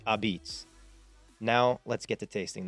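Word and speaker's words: apizza: without pointing out that pizza here is pronounced abits now let's get to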